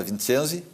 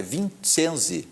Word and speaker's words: Vicensi: E voltamos agora com a doutora e professora Eliane Mota Vincenzi. Eu sempre pronuncio errado, é Vincenzi.